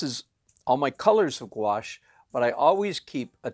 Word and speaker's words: gouache: a sketch and also I'm going to use gouache so this is here's my gouache tray that's house wash is spelled for those of you who are trying